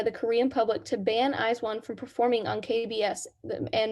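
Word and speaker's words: IZ*ONE: say it both ways i think it's eyes eyes one eyes one okay thank you before their debut a petition was put in place by the korean public to ban eyes one from performing on kbs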